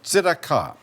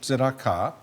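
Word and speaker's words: צדקה: e d a QA zaka first a you put a line over it it's a long a the second a you put a tent over it it's a it's a real long a so instead now the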